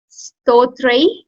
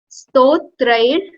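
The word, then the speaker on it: स्तोत्रैर्: Next, Stotrai. Stotrair. So you have to pronounce like R as well here. It's not Stotra.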